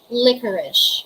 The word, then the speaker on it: licorice: it is spelled as l-i-c-o-r-i-c-e la unic spelling is british english which spelled as l-i-q-u-o-r-i-c-e but they are both pronounced as licorice everybody say licorice licorice that is not pronounced as like a rice licorice that's not pronounced